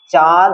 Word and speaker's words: চাঁদ: চাঁদ হয়ে গেল, চাঁদ থেকে কি হবে? চাঁদ, কি চাঁদ, এই চন্দ্রবিন্দুটা আসে ওই জন্য হয়ে গেল চাঁদ। তাহলে দেখ চাঁদ, তাহলে এখানে কি স্বরবর্ণটা নাক দিয়ে উচ্চারণ হচ্ছে, হ্যাঁ, তাহলে ও এই